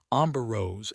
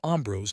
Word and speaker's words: Ambrose: However, Amberose's expression was weird. I am Ambrose, not Amberose.